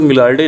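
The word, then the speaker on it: Millardet: अगला क्वेश्चन देखें, नेक्स्ट अगला क्वेश्चन है प्रोफेसर मिलार्डे ने, मिलार्डेट लिखा रहता है लेकिन उसमें टी साइलेंट है, तो प्रोफेसर मिलार्डे ने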